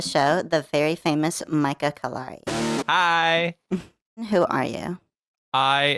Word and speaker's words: Callari: I think you said Callera. I don't remember what you said, but it is Callari. Callari. Callari is how you pronounce it, but it sounded like a mix Callari.